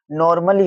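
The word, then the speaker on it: normally: नॉर्मली हो जाएगा। क्यों होगा? मली, देखो ठीक है, क्यों? क्योंकि यहाँ पे जो ए है वो साइलेंट है, इसी प्रकार नॉर्मली हो जाएगा।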